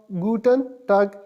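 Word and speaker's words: Guten Tag: और good afternoon को आप गुटन टग इस तरह प्रोनाउंस करेंगे।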